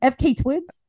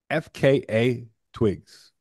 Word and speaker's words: FKA twigs: is this bitch's name FK Twigs that's why once he I looked it up it's actually pronounced FKA twigs you gotta spell you got to say all the letters which is St there's